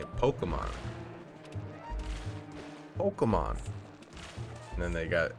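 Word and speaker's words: Pokémon: I remember being a kid and them pronouncing it Pokemon. Pokemon. And then they got adamant that it's Pokemon. Pocket Monster. Pokemon. And then I said Pokemans, and I uploaded a TikTok of it, and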